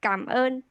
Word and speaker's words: cảm ơn: Yeah, good pronounce. Thank you. Yeah, xin chào. Okay. Thank you, thank you. You can say cảm ơn.